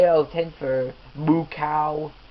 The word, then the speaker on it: Mukau: Anyway, 8 out of 10 for Mukau, which ironically that's Mukau. That's how his name is pronounced.